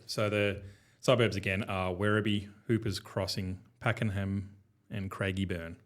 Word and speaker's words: Werribee: So Werribee, did I pronounce that right? Yeah, Werribee. Werribee.